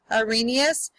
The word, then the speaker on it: Arrhenius: look at the arrhenius we're going to pronounce that a green e us Arrhenius so the this definition